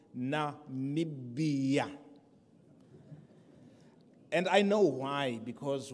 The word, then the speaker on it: Namibia: I will present Namibia, not Nambia, others are struggling to pronounce it. It is called Namibia.